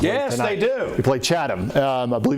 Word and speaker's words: Chatham: Chata. No, Chatham.